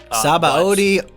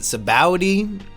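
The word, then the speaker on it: Sabaody: um the mangrove Saba archipelago and other people pronounce it Sabowi so anything works for me but is this your way of answering who should join us for volume 55?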